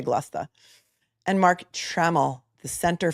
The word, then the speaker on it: Gloucester: I'm going to say Gloucester because you guys have told me that the easiest way to pronounce anything in Massachusetts is you said this, not me. The laziest way to pronounce it is usually correct.